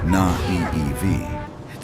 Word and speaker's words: naïve: Being honest does not mean being naive. Pronounced na-ee-ev.